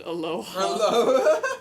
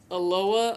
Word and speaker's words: Aloha: places names like crazy there's a town city named aloha guess who they pronounce it Aloha oh no oh my God if you pronounce it Aloha everybody would correct God yeah yeah yeah